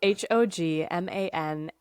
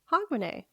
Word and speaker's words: Hogmanay: are going to talk about is hogman huh h o g m a n a y which I did look up the pronunciation for that one hogman okay weirdly enough